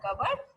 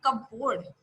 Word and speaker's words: cupboard: तो आप ये बोल सकते हो, डिड यू पुट the dishes into the कबर्ड, that is नॉट कपबोर्ड, most of the student pronounce it cupboard, it's a cupboard, okay, cupboard, clear, cupboard।